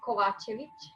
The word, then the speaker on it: Kovacevic: Is that how you spell it? Is that how you say it? It's Kovacevic.